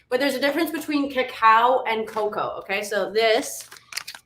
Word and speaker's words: cacao: a huge difference but there's a difference between cacao and cocoa okay so this is cacao see how it's spelled c-a-c-a-o and i think i've got coco